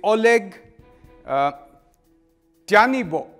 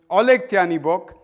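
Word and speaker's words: Oleh Tyahnybok: who, I'm going to look up the exact pronunciation because I don't want to get this wrong. This man's name is Oleg Tyanibok. Oleg Tyanibok, and he is an open anti-Semite and leader of the neo-Nazi party Svoboda.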